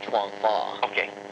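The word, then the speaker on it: Chuan Fa: Well, I pronounce it properly, Shaolin Chuang Fa.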